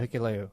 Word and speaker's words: Hikuleo: Oh, Hikuleo? Yeah, Hikuleo.